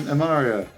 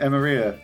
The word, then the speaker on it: Emmaria: I've just learned you pronounce your name Amaria. I've been pronouncing it Emaria for for years.